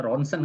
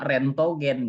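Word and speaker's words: レントゲン: Ini ronsen kalau di kita ya. Sebenarnya sama tuh bacaannya. Ronsen. Kalau di kita tuh bilangnya ronsen. Tapi sebenarnya tulisannya sama cara bacanya. Di Jepang rentogen gitu ya.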